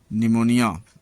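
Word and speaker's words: pneumonia: P silent, N तथा एस के पहले आया हुआ पी प्रायः साइलेंट होता है, जैसे निमोनिया एक बीमारी है।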